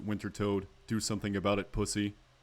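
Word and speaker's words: Wintertodt: And yes, I pronounce it Winter Toad.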